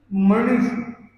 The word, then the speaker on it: मणिषु: तीसरी लाइन में स्फुरन मणिषु, तो मणिषु में ई छोटा है और न को हम पहले वाले से जोड़ दें, तेज स्फुरन मणिषु, तेज स्फुरन मणिषु याति महत्त्वम्।